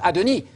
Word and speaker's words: adoni: Standard upd updated version it's not Adonai it's not Yahweh speaking to Adonai there' be God talking to God the universe would collapse it's it's Yahweh speaking to adoni check Adon 195 times it always is a non deity title yes it's only a